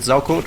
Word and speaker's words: Saukot: I'm pronouncing it Saukot, which is, I suppose, closer to the German pronunciation, which would mean pig shit.